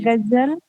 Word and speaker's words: غزل: غین بھی دیکھیے حلق سے نکلے گا, اور زا بالکل صاف.